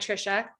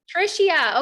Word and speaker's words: Trishia: gonna start with trisha am i saying your name right tricia hopefully you can take yourself off mute no you're not saying my name right but that's okay is it tricia yes it is trisha okay perfect um can